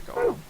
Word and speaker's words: Golem: Doing this deactivates the golem. Interesting. Then there's Golem. One of the golems, trying not to pronounce it like Gollum, found in the non-regate facility.